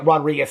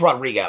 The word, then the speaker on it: Rodrigo: um read the that I say her name wrong am I saying is it Rodrigo why did she well she said she said oh no she did say I guess it's Rodrigo I didn't know that